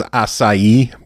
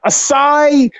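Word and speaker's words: açaí: Is it a Kai, Asai, Akia? I don't even know. I have no fucking clue. I thought it was acai, but I don't know. I think when we're done recording, I'm going to go on the internet and just look that pronunciation up because it drives me nuts. It's ACAI. Asai, maybe that's actually it. But I keep thinking I want to see Asai to be spelled SAI.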